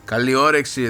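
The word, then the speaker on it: Καλή όρεξη: Kaliorexi. Kaliorexi. There we go. Good pronunciation.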